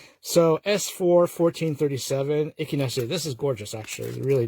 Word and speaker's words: Echinacea: At first I sort of I said it the way it's written. I'm like, no, that's not the way you pronounce it. So S4 1437 Echinacea.